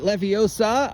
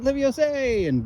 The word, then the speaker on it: Leviosa: mispronounce a word oh was it Leviosa I said I said Olivia Jose boom and just turned Steve inside out eek I guess I should have pronounced the a all right fun okay